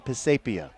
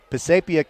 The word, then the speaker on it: Pisapia: touchdown pass to Stefan Pisapia. And I asked his parents how to say his name, so I know I'm saying it right. And so Pisapia catches that touchdown pass on the final play of the game.